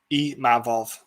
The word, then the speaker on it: Imavov: One of the holes Imavov has got is the wrestling, and it's a Imavov. There we go. Dude, I'm shit with pronouncing names.